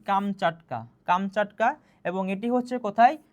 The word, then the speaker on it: কামচাটকা: Comes কাটা। ঠিক আছে। কামস কাটা হবে। তহলে কামসকাটা অর্থ কি? তাহলে কামসকাটা শব্দের প্রকৃত উচ্চারণ হবে কি? কামচাটকা।